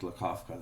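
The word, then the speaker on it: Lakofka: great uh Leonard okay I should say Leonard lakovka that's closer to the pronunciation yeah uh and I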